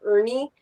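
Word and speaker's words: Urne: There's a little town spelled U R N E that's pronounced Ernie, but at a glance it looks like urine, but it's not.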